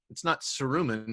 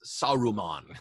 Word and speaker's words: Saruman: study to know, like, it's not Saruman, it's Saruman. Like, you know what I mean?